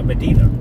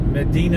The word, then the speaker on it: Medina: Now, Medina. You see that, Medina? Medina. There's another town just like that. Same exact name in Minnesota. But they don't. Medina. Not Medina. Medina. Spelled the same exact way.